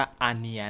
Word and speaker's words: Anya: aria forger นะ ครับ ที แรก ผม ก็ อ่าน ว่า ญ่า นะ ดู ตรง ชื่อ นะ เออ แต่ เขา บอก ว่า ให้ อ่าน A ตัว นึง แล้ว ก็ ny ตัว นึง อ่าน ว่า อีย นะ ครับ นี่ นะ ครับ ลักษณะ